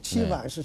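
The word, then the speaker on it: 齊白石: 재백이 아고 세계적인 대가입니다 치바이스 중국 발음으로 치바이스 상한데 공부를 했습니다 그때부터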